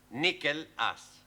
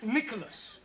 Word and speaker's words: Nicholas: upon a times there was a man called nickel ass it's not quite right no no once upon a time there was a woman called nich as it's pronounced Nicholas all right once upon a time there was